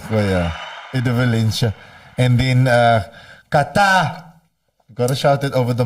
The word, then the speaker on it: Qatar: And then Qatar.